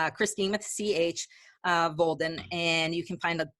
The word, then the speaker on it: Volden: Volden rhymes with golden. So it's Christine with CH, Volden, and you can find a ton of information on there, and some free resources and webinars and videos.